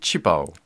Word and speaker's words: 旗袍: mais maintenant on att tendance utiliser directement sa prononciation chinois c'est qu'onutilise plus fondu des de ctés dit directement chipo la phrase en entier taille et je veux